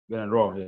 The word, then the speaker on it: Gernot Rohr: Report just reached us that the Super Eagles coach, Gernot Rohr. Did I get that pronunciation correct? Gernot Rohr. Gernot Rohr, yeah.